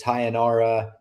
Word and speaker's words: Tayanara: with Melissa Croden versus Tayanara Lisboa. Or maybe, I think last time I said Tayanara and it wound up not being pronounced that way, but you just want to say it like sayonara.